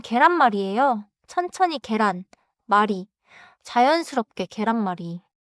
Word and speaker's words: 계란말이: 첫 번째 반차는 계란마리예요. 계란마리는 omlet이에요. 계란은 이지고 마리는 말아서 만든 것이라는 뜻이에요. 그래서 계란마리 is an egg rolled rolled omlet. 발음은 계란마리예요. 천천히 계란 마리.